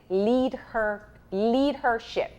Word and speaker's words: Leadhership: the the pronunciation wrong it is lead her leadership correct leadership all right because it